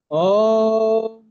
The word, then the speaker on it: ওম: দেখুন, ওম, এখানে তিনটি অক্ষর আছে, এই জন্য আপনি এই ওমটাকে একটু দীর্ঘভাবে উচ্চারণ করবেন। অ, উ এবং ম আছে।